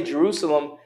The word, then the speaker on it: Jerusalem: The reason there's no, you don't say Jerusalem as Jerusalem, because the W is silent.